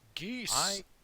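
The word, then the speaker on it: geas: I don't like I know the correct pronunciation is gas, but I don't like that because it sounds like you're saying just like gas. You know, Just which- gas. sounds like you're farting on somebody.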